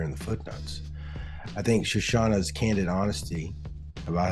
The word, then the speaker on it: Shoshana: admired for a long long time uh Dr shashana grossbard uh but I don't know if I've pronounced your name right shashawn is am I